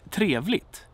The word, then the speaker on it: trevligt: So, if I say trevligt. Trevligt. Trevligt. It's a word with a grave accent, with this melodic accent.